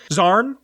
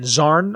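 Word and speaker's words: Xarn: claws can speak goros zarn x-a-r-n zarn I'm gonna that's how I'm gonna pronounce it um they can speak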